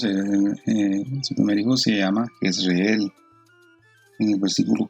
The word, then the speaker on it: Jezreel: Entonces Jezreel en el hebreo, en el diccionario Strong, se pronuncia Jezreel, y dice que Dios sembrará.